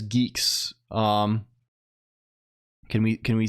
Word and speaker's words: Guix: be the the the fact that it's not pronounced guix is maddening right or or or or gck it's Geeks it's canonically Geeks um I I I